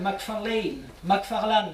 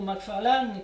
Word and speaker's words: McFarlane: Samuel McFarlane, je vais prononcer à la française, a régné, il faut